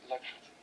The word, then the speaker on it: Lopatin: I like the French twist. I'm sorry, it does look French to me. It's clearly not, though. It's Russian. Is it Russian?